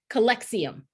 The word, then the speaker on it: Calyxeum: Latoya is here representing, I'm going to say it right, Calyxeum. Yes, you got it.